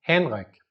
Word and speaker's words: Henrik: Yo en danés me llamo Henrik. ¿Okay? En inglés sería Henry y en español sería Enrique. ¿Por qué no sería Henrik? Porque no hay el H pronunciado, el no existe en español.